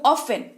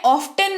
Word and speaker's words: often: ऑफन, यानी कि मैं ऑफ्टन नहीं बोल रही हूं। तो क्या मैं गलत पढ़ रही हूं? जी नहीं, इसका उच्चारण ऑफन ही होता है, टी यहां पर साइलेंट होता है।